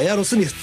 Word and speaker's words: Aerosmith: 正しい発音はエアロスミスですね。